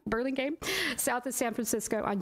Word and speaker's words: Burlingame: in a One-Stop environment Catalyst will be in pronounce the city's name sorry Burlingham Burlingame South of San Francisco on June 27th and